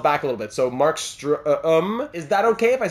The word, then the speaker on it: Markstrom: The Markstrom is where I've been getting struggling a little bit, because the O in Markstrom is pronounced like the letter U in the word burn.